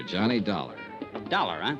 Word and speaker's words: Dollar: It's Dollar, Johnny Dollar. Dollar, huh? Yeah, rhymes with collar.